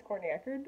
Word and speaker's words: Courtney Echerd: interviewing me did I say my name is Courtney Eckert I hope so I'm Courtney Eckert corny Eckhart